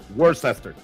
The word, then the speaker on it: Worcester: I lived out of western Massachusetts and I started learning how to pronounce it towards the end of my time being there. I used to go to work. So worester.